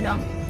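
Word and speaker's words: दो: Jadi nggak ada A-nya, A-nya hilang, cuman Ek gitu dong. Terus angka 2 kalau di bahasa Sanskerta itu Dwi, dalam bahasa Hindi disebut Do. Beda ya, bukan do re mi, tapi cuman do aja.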